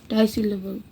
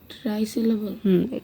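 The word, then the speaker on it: trisyllable: এটা টাইসিলেবল। ট্রাই হবে। ট্রাইসিলেবল। কিন্তু উচ্চারণটা ট্রাই হবে, টাই সিলেবল না।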